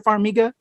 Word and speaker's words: Farmiga: name is it vera farmiga uh heather it might be for me it might be for amiga okay i think it's with the hard g i think so yeah